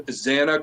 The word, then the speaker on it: Xana: it, her name was Xana Kernoodle. Yeah. She liked to joke and say, you know, hey, if you can't know how to say my name, it's Xanax without the X.